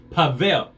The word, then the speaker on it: Pavel: me what to say how to say his name it is pavel p-a-v-e-l pavel all right so